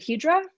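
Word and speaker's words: hijra: lovely who is a do you pronounce it hedra yes yeah um which is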